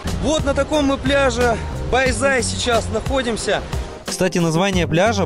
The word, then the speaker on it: Bãi Dài: Дело в том, что Bai Zai пишется с буквой D, но читается она по правилам вьетнамского языка как Z.